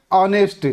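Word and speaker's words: honest: आवाज आती है। क्या आती है आवाज? ऑनेस्ट। ठीक है? इसलिए एन लगाया हमने।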